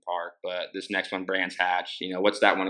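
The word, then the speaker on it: Brands Hatch: So, um, but as far as these last two rounds, um, was it, uh, Bronze Hodge and Donathan? I'm probably pronouncing those wrong. Donathan's a little easier. Brans Hatch.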